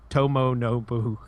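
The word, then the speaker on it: 伴信: Yeah, it's Tomo Nobu.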